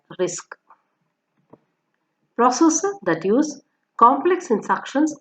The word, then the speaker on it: RISC: Simple instructions achieve more efficient pipelining processor that use simple instructions are called reduced instruction set computers and pronounced as RISC.